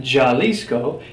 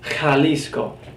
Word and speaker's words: Jalisco: It's pronounced like the hard H, the sound. So that you see there is not Jalisco, it's Jalisco, Jalisco.